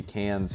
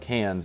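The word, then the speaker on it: Cairns: And this airport's actually going to be a new reliever airport in Canes, Australia. So, if you don't know, there's an interesting pronunciation for the city cans here in Australia.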